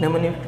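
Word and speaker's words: mnemonic: निम्निक codes क्या होते हैं? तो हमारे इंग्लिश अल्फ़ाबेट की तरह ही होते हैं, ठीक है। तो निम्निक कोड्स का यूज़ किया जाता है इसमें। निम्निक, एम साइलेंट है, निमोनिक कोड्स इज़ यूज्ड,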